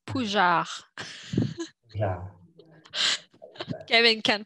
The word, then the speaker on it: Pougeard: It's Pougeard. Yeah. Kevin can't pronounce my last name.